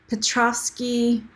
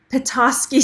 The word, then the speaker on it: Petoskey: cabochon and it's called I always say it wrong Petrovsky Petoskey stone so you can see